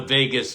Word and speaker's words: vagus: communicate with the brain the Vegas nerve now not Las Vegas